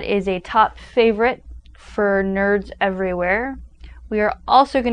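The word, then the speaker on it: knurd: Now, in words such as night, the K is not pronounced, so in this instance, the K wouldn't be pronounced, so it would be pronounced nerd.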